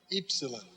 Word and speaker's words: epsilon: And then Epsilon, long E as in feet. It's just like our English U, but we pronounce it E, Epsilon.